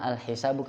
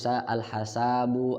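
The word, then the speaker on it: الحساب: Dibacanya al-hisabu bukan al-hasabu, al-husabu bukan. Ya, bukan.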